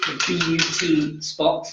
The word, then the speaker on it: BUTY Spot: So she runs the BUT Spot, not TY, as in beauty.